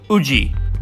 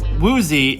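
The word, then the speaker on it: Woozi: of these names, but there's no W sound to be found. They are as follows: Jang Woo-young, Nam Woo-hyun, and Uji. But I believe Woozy is accepted as an international pronunciation. Correct me if I'm wrong.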